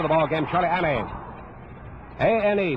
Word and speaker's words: Ane: A-N-E, pronounces his name Ane, from Honolulu.